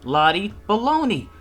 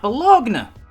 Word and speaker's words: Bologna: me over the video that's how you say her name Lottie Bologna not belong now something to keep in